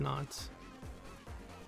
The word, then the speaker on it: Nótt: No, but Fallen Ike does not do well against Nótts. Nótts, I'm sorry. Mispronouncing your name. Nótt.